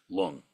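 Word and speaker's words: རླུང: modalities of energy, and energy is lung, pronounced lung in Tibetan, prana and lung, prana in Sanskrit, lung in Tibetan.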